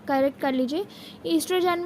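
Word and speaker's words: oestrogen: ईस्ट्रोजन में ओ silent होता है बट हम उसे स्पेलिंग में लिखते ज़रूर हैं।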